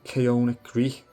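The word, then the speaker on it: Koine: and the written word the term Kon G Kon G I think that's the correct pronunciation came from places like Sparta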